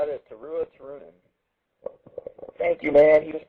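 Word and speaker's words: Turunen: her name it's turu n yeah let Kai pronounce it tuua tunin there you go that's how it is TOA tunin thank you man he just pronounced it to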